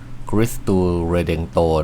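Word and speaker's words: Cristo Redentor: คริสต์ ผู้ ไทย อ ถ้า เกิด อ่าน ตาม สำเนียง ท้อง ถิ่น นะ ก็ อ่าน อ่าน ว่า กิส ตูเ เรเดงโต คริสตู เรเดงโต นะ ฮะ ก็ เป็น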